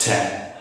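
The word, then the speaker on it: thème: later on uh obviously the word for a theme in french is pronounced ten but you will realize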